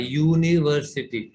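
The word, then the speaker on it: university: आप गौर से देखिएगा इसका उच्चारण होता है वाई से और वाई होता है कसोनेंट ठीक है इसका जो उच्चारण जो है यूनिवर्सिटी का वाई से शुरू होता है यूनिवर्सिटी तो क्या करेंगे एन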